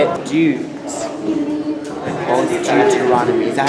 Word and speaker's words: Deuteronomy: That it's like newt, like the lizard newt, or is that how you say newt? Old Deuteronomy. So old Deuteronomy.